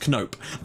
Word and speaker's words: Knoop: Also, someone pointed out to me that it isn't pronounced Noop, which is a shame, but we're going to call him Pingu from now on. It's actually pronounced Knoop.